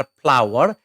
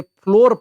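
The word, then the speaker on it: flour: पढ्न चाहिँ एफ एल ओ आर फ्लावर है। फ्लावर नै भन्नुहोला है। अ यो एफ एल ओ डब्लु इ आर को जस्तै यसको पनि उच्चारण सेम हुन्छ है। यसलाई चाहिँ कतिले फ्लोर पढदिन्छन्। फ्लोर नपढ्नु होला है।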